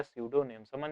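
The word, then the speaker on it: pseudonym: उसके बाद लिखा है सूडो नेम्स का मतलब होता है मतलब लेखक के द्वारा अपनाया गया दूसरा नाम यानी भिन्न नाम उसी को कहा जाता हैडो नेम और इसमें पी साइलेंट रहता एन इमेजिनरी नेम अजूम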